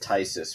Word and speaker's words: Phthisis: It's PHTHISIS. Oh, Tysus. I call it Phthisis, even though I know that's wrong. I'm gonna call it Tysis for the purpose of this because the spelling is